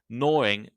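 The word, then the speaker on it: gnawing: to get rid of be careful though noring begins with a silent G you should check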